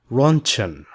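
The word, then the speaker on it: Röntgen: If you are wondering why this letter looks like this, that's because this is a German name, not English. This is why it looks like this. It is pronounced as runchan.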